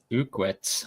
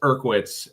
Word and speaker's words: Urkwitz: I I butchered his name a bunch too until he corrected me. It's Urkwitz.